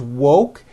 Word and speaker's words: woke: here's what you do to say the word woke first say wo with the w sound at the beginning and at the end and then you just add the k sound C wo C like that put it together and you've got wo woke I just woke up